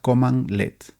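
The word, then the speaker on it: cmdlet: Un semd LED se pronuncia command LED.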